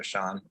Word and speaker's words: Shawn: we both go huh I think it's Sean because it's spelled s-h-a-w-n so I think yeah Sean